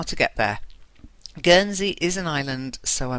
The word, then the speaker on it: Guernsey: And she wrote, I'm interested in visiting Guernsey. It's a G sound.